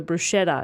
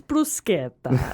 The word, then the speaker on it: bruschetta: me about this like any time people order bruschetta and you get to go well actually it's brusque okay and i love